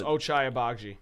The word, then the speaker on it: Ochai Agbaji: Yeah, it's Ochai Agbaji. Ochai Agbaji.